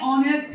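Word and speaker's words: honest: लेते हैं ऑनेस्ट, इसमें इसको बोलते हैं ऑनेस्ट। इसमें बेटा ध्यान रखना एच जो होता है ना वो साइलेंट होता है, एच जो होता है वो साइलेंट रहता है, इसको ऑनेस्ट पढ़ते हैं।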